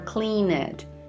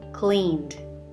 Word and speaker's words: cleaned: pronounce call it or clean it the e is not pronounced in those verbs called cleaned got it now it